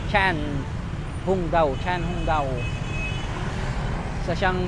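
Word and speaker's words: Trần Hưng Đạo: si trang hung daw ang basa nila ang basa tran hung daw pero ang pronunciation niyan is Chang Chan hung daw Chan hung daw isa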